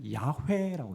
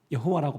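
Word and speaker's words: 야훼: 히브리어로는 우리는 여호와라고 했지만 온문에는 뭐라 발음이 어떻게 되냐면 야회라고 돼 있습니다. 그래서 어떤 성경 번역기에는요 그대로 번역해서 야회라고 읽습니다. 구약자들은 여호와라고 발음하지 않고 야회라고 읽습니다.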